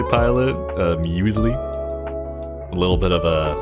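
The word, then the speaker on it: muesli: Sometimes uh Google has that pronunciation. Uh musli.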